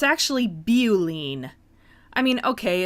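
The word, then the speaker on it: Beau-line: thought it was called Boline but it's actually beine I mean okay it's the first syllable of beauty but that word also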